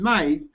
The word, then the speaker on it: knife: of it you know if you're gonna pronounce it knife then why do we need a k for oh we'll be smooth guys we'll spell knife with a K but we'll make the K silent well what about when